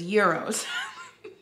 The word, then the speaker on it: gyros: We looked up the pronunciation and it was gyros.